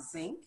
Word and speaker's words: Zwinck: Robin sink am i pronouncing it incorrectly you got it yes wink